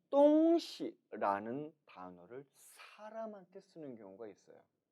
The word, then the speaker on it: 东西: 이 단어는 발음이 2가지로 읽혀요. 첫 번째는 따라 읽습니다. 똥시, 똥시. 똥 일성은 동쪽을, 시 일성은 서쪽을 나타내죠. 따라서 똥시라고 발음하면 이는 동쪽과 서쪽을 나타냅니다. 그런데 이러한 경우보다 더 빈번하게 다음과 같이 읽는 경우가 많아요. 따라 읽어봅니다. 똥시, 똥시. 이처럼 시 발음을 시, 시. 경성 처리하는 경우죠.